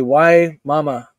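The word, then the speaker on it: Wimauma: is like WI a WI a move say why mama why mama say is that how you say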